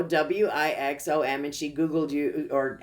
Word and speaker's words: Wixom: And I told her your name, and then she totally butchered it. And so I said, no, Wixom.